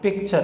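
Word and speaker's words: picture: तो टी यू आर ई जो इसका उच्चारण हो रहा है वो कि यहाँ देखिए च आ गया इसके अंदर, क्योंकि टी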